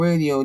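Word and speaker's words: Rdio: So on it's the station the the platform we're using is called radio. They just took out the A. So it's spelled R D I O AI.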